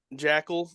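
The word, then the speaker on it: Joeckel: Luke ja jel offensive tackle for the Jags Jackal it's not spelled Jackal so that's weird that it's pronounced Jack it's like Joe and then ckel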